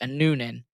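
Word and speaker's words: Annunen: in front of uh Aninan who I swear I think he he was being his name was being pronounced Anunan when he was in Colorado but you know whatever.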